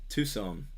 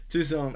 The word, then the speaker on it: Tucson: David, I'm in Tucson. I was gonna pronounce it wrong. Tucson, Arizona, USA.